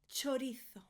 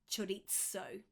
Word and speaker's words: chorizo: I'm Spanish, that's why I'm doing the TH at the end, the th. Chorizo. In Latin America, in the south of Spain, in the Canaries, they would say chorizo. Both are correct, but the one that's not correct is chorizo.